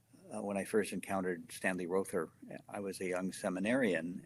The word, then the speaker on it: Rother: And, or is it Rother? Do we say Rother? We say Rother. Yeah, his family. Yeah, well, we'll go with how they say it in the great state of Oklahoma.